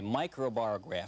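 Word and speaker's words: microbarograph: bought this instrument but it's known as a micro bar graph stand right that you got it and you got the pronunciation right as well i usually do now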